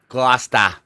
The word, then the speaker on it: Gloucester: Glouester.